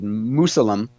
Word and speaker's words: Musalem: It looks like Mausoleum, but I'm guessing it's pronounced Musalem.